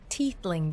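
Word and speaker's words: tiefling: objective purification cannot wait okay so it's pronounced teethling then what do you mean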